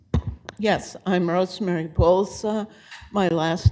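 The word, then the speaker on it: Bolza: I think Bza. Yes, I'm Rosemary Pulsa. My last name is spelled B as in Bravo, O L.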